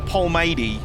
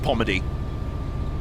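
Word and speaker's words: Polmadie: One thing I've learned about a lot of Scottish pronunciation is that if there's random L's in the middle of a word, just don't pronounce them. Like, there's a Polmady in Glasgow. It's just Pomady.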